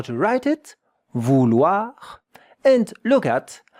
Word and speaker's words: vouloir: Look at how to write it, vouloir, and look at how to pronounce it, vouloir. 2 syllables, yeah? Vouloir. Vouloir, with the French R that you see here.